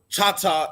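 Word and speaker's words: Chahta: Louisiana say she is Shasta or is it Tata so um generally Chata is um the proper pronunciation now of course you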